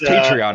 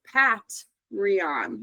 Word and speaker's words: Patreon: sure that we're all we're all aware it's Patreon, right? Yeah. Yeah. So, I uh it's a very interesting way to choose to pronounce it. Pat Ron.